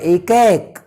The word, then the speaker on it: एकैक: पूर्वी भारत में जब हम जाएंगे तो इसको कई बोलते हैं, कई नहीं होता, कई में तो फिर कै और ई हो जाएगा, इसलिए उच्चारण की शुद्धता का भी हमें ध्यान रखना है। ये होता है ए को आप जब स्ट्रेच करेंगे बाएं और दाएं तब ये उच्चारण होता है एकैक, ये इसका उच्चारण है।